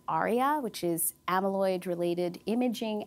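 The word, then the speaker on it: ARIA: So it does have a side effect called Arya which is amaloid related imaging abnormalities. Spell that for us. Arya.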